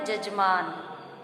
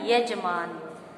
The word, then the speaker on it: यजमान: अब इसके बाद है जजमान, लेकिन शुद्ध उच्चारण हमारा क्या है? यजमान।